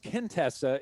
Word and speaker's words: Quintessa: pronounce it your novel right is it called quintessa do i have the title pronounced correctly you know there's not really a wrong way because i invented the name uh but contessa is what i go with uh it's q-i-n-t-e-s-s-a